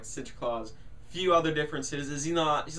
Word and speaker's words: Sinterklaas: First of all, it's not Santa Claus, it's like Sinterklaas, I think that's how you say it, which Santa apparently is based off of him. So yeah, so it's like Sinterklaas.